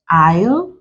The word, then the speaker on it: isle: word s is silent s is also silent in other words like let's note this down is not present in Isle then even the homophone